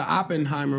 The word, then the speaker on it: Oppenheimer: yo and you keep on bringing up the Oppenheimer movie that's how you say it yeah yeah